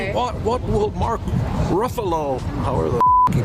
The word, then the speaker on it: Ruffalo: What What will Mark Ruffalo, however the he pronounces his name right? Ruffalo.